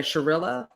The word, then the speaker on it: Shirilla: McKenzie, what is that how you pronounce her name? Yeah, Sharilla.